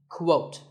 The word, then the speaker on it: quote: is the word quote this is not pronounced the same as coat the correct way to say it is with a cool sound at the beginning quote similarly we have quotation